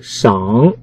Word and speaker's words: 赏: 赏腕的赏，他认为发音为死掌切，就是赏，跟司运平赏去路的赏一样。